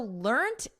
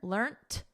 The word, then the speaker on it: learnt: and pronunciation is learned so notice we have a soft T here learned and then in American